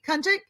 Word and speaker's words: Kunchik: Kunchik? Kunchik, yeah. It's like a little Kunchik? more of a k, but yeah, that's okay.